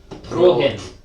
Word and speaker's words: Prohen: You need to roll your R's a bit more. Prohen. Prohen, I think his dastardly name was, will be out tomorrow.